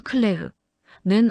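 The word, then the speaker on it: Claire: 서작가님, 오늘 영상의 주인공 클레르 프랑스 발음으로는 클레흐는 어떻게 알게 되셨나요?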